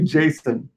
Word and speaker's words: JSON: But the guy that created it said it's supposed to be Jason.